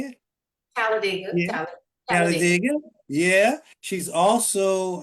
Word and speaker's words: Talladega: Talladega.